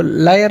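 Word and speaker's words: lawyer: तो कायद आज़म का profession लॉयर थे, वो लायर नहीं कहना, लॉयर।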